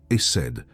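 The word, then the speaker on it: חסד: Il s'écrit HSD et il se prononce essède.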